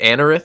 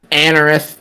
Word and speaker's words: Anorith: Is it Anorith? Is that how you say its name? Yep. Yeah. That's how I say it. Yeah, Anorith is B.